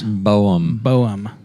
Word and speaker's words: Boehm: Um, the uh, and you looked it up, how to pronounce it. It wasn't Beam. It was Boem.